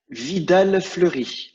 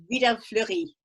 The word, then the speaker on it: Vidal Fleury: I never know how to pronounce this. Is it Vidal Fleury? Vidal Fleury? Vidal Fleury. Vidal Fleury.